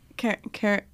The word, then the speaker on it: Carignan: Carignan. Nun. N-U-H-N was how I spelled it out to be pronounced. Okay. Nun is probably, actually it's probably nun.